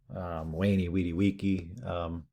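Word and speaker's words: veni, vidi, vici: Kind of a mixture of the V and the U. Wayne Weedy Wiki.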